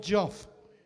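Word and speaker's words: Joffe: This is, we'll dedicate this one to Lord Joff. That rhymes with fuck off, by the way.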